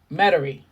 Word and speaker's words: Metairie: Metairie.